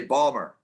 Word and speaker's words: Baltimore: we say Baltimore, but people Yeah. in Baltimore, they pronounce it like it's like a D in there. Well, they say Balmer.